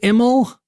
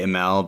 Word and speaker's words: Imel: I don't even really know how to say it, but I just say Imel because it sounds fancier. I just go with that. You know how to say it right. So it's Imel.